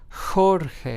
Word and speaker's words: Jorge: We have the word Jorge, which means George in Spanish, is pronounced as Jorge, as if it started with an H in English, right?